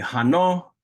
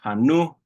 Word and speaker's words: hano: Okay, hano can also be pronounced hanu, hanu. Either one of those are fine.